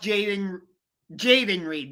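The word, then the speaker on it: Jayden Reed: But it's like you guys just lost Jaden Reed.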